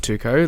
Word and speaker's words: T2KO: I guess in honor of Zane, you've started this amazing non-for-profit called Tuco. Let's get into it. It's spelled T2KO.